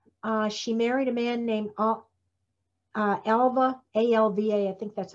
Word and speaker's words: Alva: And finally, she married a man named Alva, A-L-V-A, I think that's how you pronounce it, Lowther, who was 20 years older than she was.